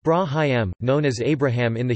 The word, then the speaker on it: Ibrahim: Ibrahim, pronounced Brahim, known as Abraham in the Hebrew Bible, is recognized as a prophet and messenger in Islam of God.